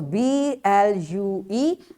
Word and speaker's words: blue: Its spelling is B-L-U-E and we say it blue.